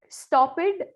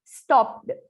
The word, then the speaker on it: stopped: based, used, stopped. You say it that way. It should be a flow. Stopped, not ed.